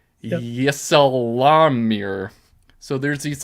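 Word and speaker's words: ysalamir: oh yle they're called it's so hard to pronounce YSA a l a m i r yesir so there's these like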